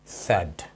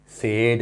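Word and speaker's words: said: चले तो इसका प्रोनाउंसिएशन है सैड, सेड नहीं है, ठीक है।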